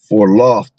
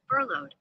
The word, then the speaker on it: furloughed: Hold on, let me take that word in cuz I feel like I'm saying it wrong. For lawed, I think it is. For lawed. Pronounce. Pronunciation. For lawed. Uh salaki. Furloughed.